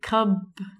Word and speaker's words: cupboard: The pronunciation of this word is very strange. We say cupboard.